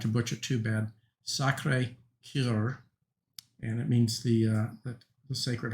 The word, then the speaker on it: Sacré-Cœur: I'm not good at speaking French, but I believe it's pronounced, I'll try not to butcher too bad, Sacré-Cœur, and it means the Sacred Heart.